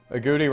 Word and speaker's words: agouti: and kills another unsuspecting agouti a Gowdy agouti I don't know agouti rhymes with booty I think that's where